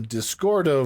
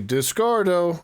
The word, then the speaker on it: Discord: whether or not the Discordo voice is still built into Discord. That is the common Japanese pronunciation of the name Discord, and Discord, at least